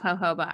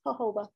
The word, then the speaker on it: jojoba: I love jojoba. I actually used to mix. Oh, I said it wrong. Thank you. Yes, jojoba.